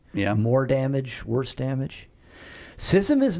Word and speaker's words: schism: one, by the way, I know who says schism. that's usually a good sign I'm pronouncing a word wrong. in the building. I don't know anybody else who says schism. I've got a lot of Who words says that schism?